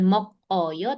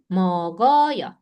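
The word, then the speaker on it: 먹어요: Jadi kalau ini bacanya bukan mok oyo tapi mogoyo.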